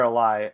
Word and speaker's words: Ali: josh i think it's josh alley or a lie ally josh ali i believe yes that's uh how you pronounce it i mean wendell doubled